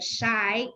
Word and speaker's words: Shai: My last name shi pronounced as a shy and I'm not shy.